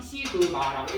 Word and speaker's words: 시그마: 그리고 읽을 때는 뭐라고 읽냐면 시그마라고 읽어요.